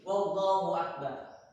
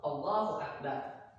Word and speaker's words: Allahu Akbar: Dan yang kedelapan, syarat yang kedelapan itu tidak boleh menambahkan waw sebelum hamzah jalalah. Contohnya seperti ini, Allahu Akbar, katanya bacanya Allahu Akbar, ditambahnya waw sini menjadi Wallahu Akbar, maka tidak diperbolehkan juga.